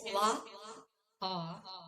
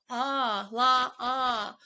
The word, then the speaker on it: La'a: La'a, is that how you pronounce it? It's La'a. La'a.